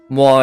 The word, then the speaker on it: moi: Yeah, that in French oi is not pronounced like oi, but like wa. Right, like moi. Right. Moi is spelled moi, and it's pronounced moi.